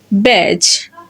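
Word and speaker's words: badge: যখন আমরা দেখব ডি লেটারের পরে জি লেটার থাকবে তখন ডি সাইলেন্ট থাকবে। যেমন জাজ, ব্যাজ, হেজ, ওয়েজ অ্যান্ড এজ। এই লেটারগুলো যদি আমরা লক্ষ্য করি দেখব ডি এবং জি একই সাথে থাকার কারণে এবং ডি এর পরে জি থাকার কারণে এখানে ডি সাইলেন্ট হয়ে গেছে।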